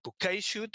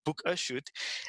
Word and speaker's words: bokehshoot: And different people pronounce it either bouquet shoot or book a shoot.